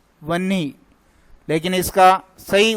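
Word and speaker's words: वह्नि: इसी प्रकार देखिए, ये आग का, ये भी बहुत बार पूछा जाता है वन्नी, लेकिन इसका सही उच्चारण क्या है? या तो इसको लिखो वहनी या फिर लिखो वह है के पैर में वहनी।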